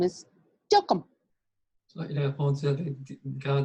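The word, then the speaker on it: TLKM: He said, my real name is Tilcum. Il a répondu avec grand détail. Il a dit, mon nom c'est Tilcum.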